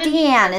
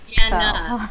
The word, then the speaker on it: Deanna: I want to spell that because, you know, it's not Deanne, it's Deanna. Deanna. So.